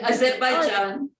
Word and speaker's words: Azerbaijan: Which is the greatest thing about being the editor of Actually, Azerbaijan.